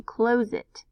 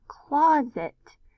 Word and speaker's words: closet: And in this example, if I try to break it there and have O say its name, close it. Close it's not quite sounding right. So if I move the syllable break here, claw, and have the short O sound, closet. Closet definitely makes more sense and sounds like a word.